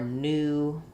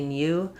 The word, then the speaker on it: new: Same thing for new. We just use the oo sound in all of those.